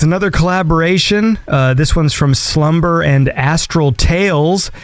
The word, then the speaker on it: SLVMBER: And this is Slumber, and that's spelt with a V. That's SLVMBER.